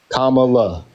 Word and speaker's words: Kamala: how to pronounce it if I'm pronouncing it wrong? Kamala.